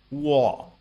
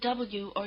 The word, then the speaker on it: 卧: The combination WO or UO is pronounced rather like the beginning of the English word wall.